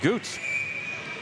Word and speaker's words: Goots: We called him Jackson Guts in the first game. Got some pronunciations between games 1 and game 2. So we'll properly identify the young freshman goaltender from Avon as Jackson Goots.